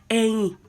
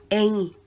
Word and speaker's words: Ẹ̀yìn: Eyin. Eyin. The way people pronounce it, some will say Eyin, some may say Eyin. They are both correct.